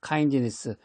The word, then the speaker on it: kindness: kindness. 영어로는 이제 그 D 발음은 안 하고 kindness라고 그러는데 small kindness.